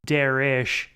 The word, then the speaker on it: Derek: Minor note, Derek pronounces his own name as Darish and insists that most other people pronounce it that way, including the porn stars he harasses.